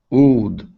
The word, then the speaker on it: would: So when I pronounce the word would, my lips start in an oo formation and then they open up. Ooh, ooh. So right now you're saying ood. It's not ood, it's ooh, would.